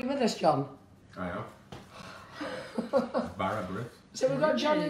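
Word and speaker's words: bara brith: Barra breath.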